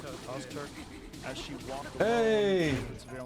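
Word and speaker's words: Öztürk: Ozturk? Ozturk.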